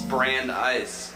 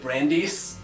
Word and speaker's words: Brandeis: Very specific about being like, it's Brandeis. What, was it gonna be like Brandeis? Yeah, I know. I don't know. It's spelled like B-R- B-R-A-I-N-D-S. That sounds like that song like... That's not... Is that a song? No. I-S. It's the Brandeis child. E-I-S, you're right. Brand-E-I-S.